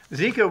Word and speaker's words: Zika: Zika was the 2015 freakout.